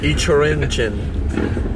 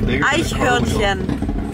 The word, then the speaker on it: Eichhörnchen: Ichorinchen. And you? Aikinion then. I don't know. Almost? I cut it. Close, yeah, closer. It's Eichhörnchen.